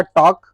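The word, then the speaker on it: talk: इसे बहुत लोग बोलते हैं टाल्क भैया, इसको बहुत लोग बोलेंगे वाल्क, और बहुत लोग इसको बोलते हैं हाल्फ। लेकिन इसका तीनों जो प्रोनाउंसिएशन भी हम बोले वो तीनों गलत है। इसका शुद्ध प्रोनाउंसिएशन होता है टॉक, और इसका होता है वॉक, और इसका होता है हाफ।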